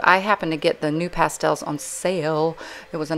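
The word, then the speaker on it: NuPastel: This is just a harder new pastel. This is spelled N-U-P-A-S-T-E-L, new pastel.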